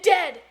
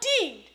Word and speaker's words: dead: sounds like bird and dead it's said like bed not beed for goodness sake don't call it deed watch out for meat